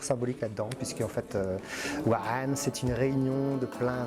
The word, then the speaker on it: 3NE: Donc en fait on prononce Wa'an, mais en fait en réalité c'est Wan.